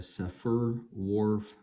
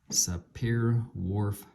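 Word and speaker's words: Sapir-Whorf: our cultural patterns is best represented by the safer Wharf hypothesis spelled s-a-p-i-r Dash w-h-o-r-f sapir Wharf hypothesis although some Scholars argue that our reality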